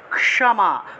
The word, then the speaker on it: ক্ষমা: তারপরে দেখুন, ক্ষমা, বাংলায় বললে ক্ষমা, কিন্তু সংস্কৃতে আমরা কি উচ্চারণ করব? ক্ষমা, অর্থাৎ কটা উজ্জ্ব থাকবে, ক এবং মূর্ধন্যস্য উচ্চারণ হবে একসাথে।